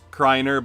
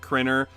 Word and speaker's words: Kreiner: My last name is pronounced Kreiner, but some pronounce it Krinner, and it drives me insane.